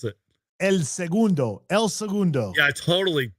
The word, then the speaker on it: El Segundo: Well, how do you pronounce it? El Segundo.